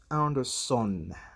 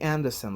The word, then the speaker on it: Anderson: So sometimes uh students do pronounce Anderson, son. I think it's more of sen. Okay, that's Murray Anderson, like Jackson.